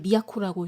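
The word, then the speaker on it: 都: 근데이 단어의 어원이 미야코인데 이게 그 도할 때 도자를 미약코라고 읽어요.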